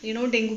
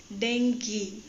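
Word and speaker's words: dengue: डेंगी, actually हम इसको pronunciate करते हैं डेंगू, बट मैं एक जगह देख रही थी तो वहाँ बता रहे थे कि इसका एक्चुअली जो सही प्रोनाउंसिएट है विच इज़ डेंगी।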